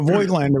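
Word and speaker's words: Voigtländer: first saw the voigtlanders I thought it was like voiced but it's not it's just void Victor Lander you can't say that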